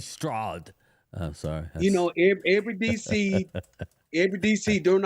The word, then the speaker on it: Stroud: Yeah, they got, That's not how you pronounce it. It's CJ Stroud.